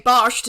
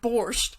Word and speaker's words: borscht: But I knew enough to say barsht instead of borscht.